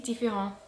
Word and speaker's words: différents: Ah, see, I got that wrong because I pronounced the T indifferent. That's an English hangover for you. Try again. Vraiment, j'ai toujours pensé qu'ils sont si différents.